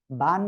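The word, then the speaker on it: باء: এর নিচে একটা নুক্তা হয়, বান নিচে এক নুক্তা। এই অক্ষরের নাম বা। এক আলিফ টেনে পড়তে হবে, দুই ঠোঁটের ভিজা অংশ থেকে উচ্চারণ হবে। বা, বা, বা।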